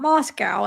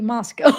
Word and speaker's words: Moscow: south of Moscow Idaho I have to make sure I say it not Moscow it has to be Moscow because I oh gosh every time I say it wrong oh because I you know to me that looks like you'd want to say Moscow but it's Moscow so just in case